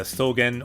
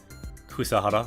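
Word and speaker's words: 草原: The Sogen, or it can also be pronounced, this kanji, Kusahara, like the grassy plains.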